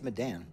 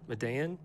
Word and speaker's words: Medan: Keltner don't worry nobody knows how to pronounce Mandan oh okay good so it's not the only Thursday afternoon slow jams with Nick from is it maidenly think man of Medan man of Madonna it's Madden Madden I mean but how do I know they